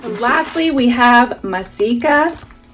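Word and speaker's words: Maseca: Lastly, we have masika. If I'm pronouncing it right, some people pronounce it maseka, some say masika.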